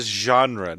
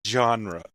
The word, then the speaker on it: genre: I just want to stress it's a soft G. It's a genre, not a genre.